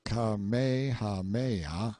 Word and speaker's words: Kamehameha: When Kamehameha, pronounced Kamehameha, the Great, who was a